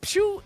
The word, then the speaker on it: Pew: Yeah, Pew is what he is called. That's That's right. You heard us right. He didn't spell it wrong. It's actually that's how you say his name.